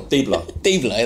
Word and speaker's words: Dybala: Dibala, that's it.